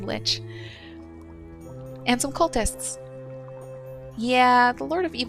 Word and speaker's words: lich: I think it's supposed to be lick. But ever since the second World of Warcraft expansion, everyone I know has said lich.